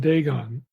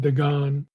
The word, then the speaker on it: Dagon: warfare between Yahweh and Dagon, or you could pronounce that name Dagon. The English translations typically have Dagon with an O. Outside the Bible, the name is Dagon, D-A-G-A-N.